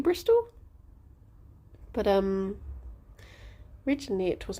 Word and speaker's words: Bristol: Yeah, it's like that with like Bristol was originally spelt with a W on the end. Because it was like Bristow. And I guess so many people just said it Bristol that it just became Bristol.